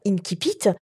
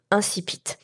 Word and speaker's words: incipit: houle linsi pitt alors en fait il y à des querelles entre les latinistes pour le prononcer à la latine à savoir inti pitt ou alors de le franciser et de d'irrintzi pitt ou incipit alors moi je te propose de le prononcer à la française et de dire incipit comme ça ça met